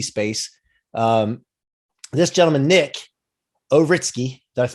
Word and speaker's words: Ouritski: with the nft space um this gentleman nick ovritsky does pronounce that right you got it right i